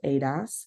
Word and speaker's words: ADAS: also have Advanced Driver assistance systems Adas or pronounced Adas and we also have driver monitoring systems DMS